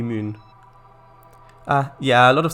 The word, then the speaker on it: Mün: i don't know it's a lot of people pronounce pronounce it man but the but that might just be because they don't know how to pronounce umlauts so i guess it would it would be moon uh yeah a lot